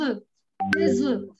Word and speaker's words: œufs: N'oubliez pas que c'est une exception. Cette prononciation, c'est eux, c'est fermé, des œufs.